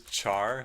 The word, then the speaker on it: char: I pronounce this char, like the English word to burn, instead of care, like in character, which is I know how a lot of people say it.